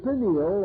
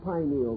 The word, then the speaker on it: pineal: uh the pineal or pineal gland either pronunciation is correct located in the central part of the brain still remains the mystery gland of the human body.